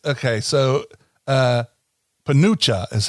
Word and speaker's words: penuche: spell it again. It's okay. So, Penucha is how you say it.